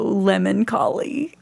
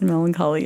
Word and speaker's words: melancholy: That's why I feel so lemon-colly." And so she mispronounced melancholy as lemon-colly. It was hilarious to me. I love her mispronunciations, and I have trouble now. I want to say lemon-colly instead of melancholy, but that's my girl.